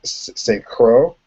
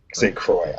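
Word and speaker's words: St. Croix: rich playing wesley uh st crow i believe is is the pronoun proper pronunciation uh he's saying cruelly say kroy i apologize yes say kroy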